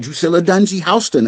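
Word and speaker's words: Drusilla Dunjee Houston: the early 19th century, you know, you got Dusilla Dunie Hston, as I found out, her name is properly pronounced.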